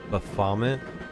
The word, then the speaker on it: Baphomet: Baphomet? Like vomit?